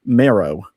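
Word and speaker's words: Merrow: So, my last name should be pronounced marrow, but it should be spelled with an E.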